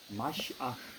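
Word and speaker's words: מָשִׁיחַ: 마시아 이렇게 말해요.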